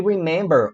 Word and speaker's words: remember: Mas a sílaba tônica qual é nesse verbo? A gente fala remember ou a gente fala remember? A gente fala remember. A gente fala remember. Então a sílaba tônica qual é? É a me.